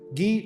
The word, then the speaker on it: Guy: then appoints her husband G of Lucan as the king of Jerusalem if you read in the English literature by the way it's spelled as guy his name is not guy G of linon is